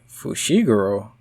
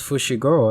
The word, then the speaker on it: Fushiguro: bushy garage who you wait fushiguro i thought it was pushy girl i've been seeing around